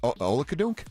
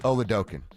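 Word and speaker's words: Oladokun: what they were against Chris Oladunk. Did I say it right? Olken. Oloken. I kept on trying to do the aukin and like make that be the thing, but it never really Yeah.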